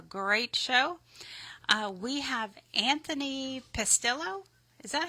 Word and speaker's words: Pastillo: I think it's Pastello. Pastello? Okay.